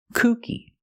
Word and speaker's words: kooky: to pronounce them correctly first let's look at Kookie Kookie with a long oo sound means funny or crazy kooky he tells funny jokes